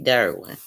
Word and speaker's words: Durwin: there is some cassidy's out there it's derwin and i spell it out because d-u-r-w-i-n to me it's an